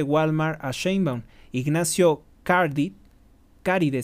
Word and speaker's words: Caride: a shb Ignacio Card caride se dice se escribe como caride Ignacio caride el ceo